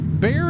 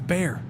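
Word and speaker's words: Bexar: No, bear is not correct. Bear is not correct. It's bear. There's a difference between bear and bear. It's bear. The X is an H sound that is Spanish-based. So now now I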